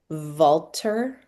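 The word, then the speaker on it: Valter: Walter Longo. Walter, like the word Walter, but spelled with a V instead of a W at the beginning.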